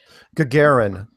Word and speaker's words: Gagarin: kind of stumble I I stumbled over it Gagarin that's how they always pronounce it good Gary but when you when you read the spelling of it it's not it doesn't look like Gagarin so the Alerus talking